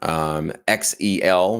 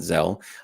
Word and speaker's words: XEL: All right, here's our big winner of the S61 keyboard, XEL, which I learned that's how you pronounce it, not Zell.